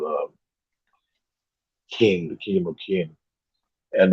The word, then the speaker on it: Qin: up against the key no King spelled q-i-n that's how I spelled um or Qin or or it's either x i e we all spelled uh King the kingdom of King